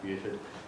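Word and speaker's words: Beauford: So in that milieu of people, that's where he met Truman Capote, Richard Wright, Buford Delaney, it actually is pronounced Buford, and James Baldwin in Paris.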